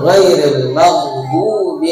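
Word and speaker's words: غير المغضوب: Kemudian jelas hurufnya, jangan ghairil maghdubi dibaca hilang. Apa ini maghdubi? Ya, yang betul ghairil maghdubi alaihim waladhdallin, seperti itu.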